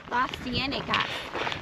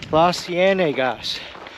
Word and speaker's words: Las Cienegas: Las Cienegas. Las Cienegas, which is Spanish for the swamps, and you